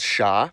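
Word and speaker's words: Ш: It's called sha, and as you can guess, it sounds like sh. Sh can be extended indefinitely. Shh. Conveniently enough, sha appears to be the Cyrillic letter with the longest horizontal distance.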